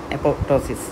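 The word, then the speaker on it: apoptosis: সুতরাং আমাদের অস্টিওক্লাসটাকে এপোটোসিস এপটোসিস আর কি আমরা উচ্চারণ প্রোনাউন্স করে থাকি এপোপটোসিস।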